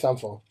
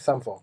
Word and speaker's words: Sampha: Sampha. Is he sure it's Sampha or something? Because I had a friend and he was it's from Sampha. the same place. It's called Sampa. No, it's Sampha.